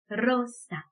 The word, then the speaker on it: rosa: 우리 영어로 장미하게 되면 rose, 네, 혀끝이 말려서 공중에 떠서 발음을 하게 되는데 스페인어에 굴리는 R 발음은요, rosa. 네, 이렇게 정말 그야말로 굴러가듯이 발음을 해줘야 돼요.